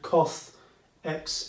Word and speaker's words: coth: Yeah, everyone says coth, everyone I think says cosech or cosech, okay, and everyone says sech, okay.